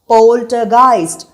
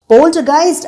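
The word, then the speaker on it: Poltergeist: first 1982ல release ஆன போல்ட்டைஸ்ட் உங்களுக்காக இன்னொரு தடவை உச்சரிக்கிறேன் போல்ட்டைஸ்ட் போல்ட்டைஸ்ட் அப்படின்னா அதிக சத்தம் ஏற்படுத்தி நம்மளை சுத்தி இருக்கிற பொருள்களை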